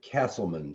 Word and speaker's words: Casselman: It's actually the Cassell case, and I'm Castleman, so thank goodness they're not pronounced the same.